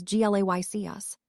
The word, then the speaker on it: Glacius: The incantation is Glacius, sir, Harry answered. Pronounced as Glaycius.